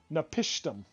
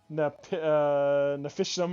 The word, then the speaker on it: Napishtim: Napishtim. At least that's the way I was taught when watching the producers for the game, so I assumed they were saying it right. It's not how when I first played it, I was saying I always called him Nafishim or no Napishin. I'm like, okay, Napistum.